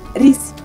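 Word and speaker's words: рис: Ini nasi, bacanya ris.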